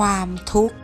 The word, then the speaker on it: ทุกข์: ออก เสียง นะ คะ ความ ทุกข์ เวลา อ่าน ออก เสียง ขอ ไข่ การัน จะ ไม่ เอา มา ออก เสียง ด้วย นะ คะ คำ ต่อ